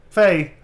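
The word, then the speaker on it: Fei: Faye is pronounced Faye.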